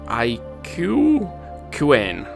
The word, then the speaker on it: Aquin: I can survive yes my name is just Aquin and is pronounced IU quain thanks and keep it